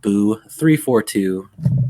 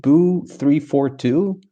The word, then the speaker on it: Buu342: I usually go with Buu342 because I just like how that sounds, and the 2 rhymes with boo, and it's just fun to say.